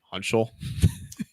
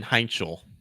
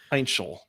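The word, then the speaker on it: Heintschel: Hunchel? Where have you been all my life? Gesundheit. Max Hunchel? Yeah, that sounds right. Mason Heinchel. Man, I butchered that. Heinchel. So it is.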